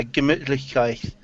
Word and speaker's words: Gemütlichkeit: it's a bit blurry, but yeah, Gemütlichkeit. Yes, that's Yeah. the one, Meki. I can pronounce it.